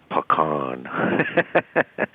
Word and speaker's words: pecan: in the colloquial English that matches an indigenous pronunciation. Bagan, pecan.